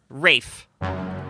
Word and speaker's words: Ralph: I think it's Rafe Fiennes. It is. Rafe. Is it? Yeah. Oh. Wow. Yeah. Rafe Fiennes. This whole my entire life I've been saying his name wrong? Yeah.